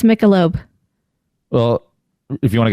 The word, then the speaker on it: Michelob: a word pronunciation debate is it misha loeb is it michelob well i would say michelob i just would say no thank you it's michelob well if you want